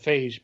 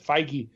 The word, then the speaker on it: Feige: Mikey Mikey anyway smell it's spelled like beige with an F so I said phage but Feige whatever he said that if